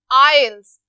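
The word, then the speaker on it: isles: The British आइल्स. अब जो word आइल्स है, यहाँ पर आप इस चीज को गौर से देखें, जो एस है ये साइलेंट है.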